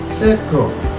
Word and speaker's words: sega: Sego. Sego berarti dari A. Mergo karena O. Jadi pakai A, sego. Yang bacanya sego tapi pakai A.